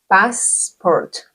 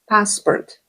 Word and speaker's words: passport: In the English word passport, we do not have a after the s, right? So do not pronounce it as if it was a Spanish word.